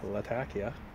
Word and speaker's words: Latakia: But a lady from Latakia told me that's how it's pronounced. Latakia.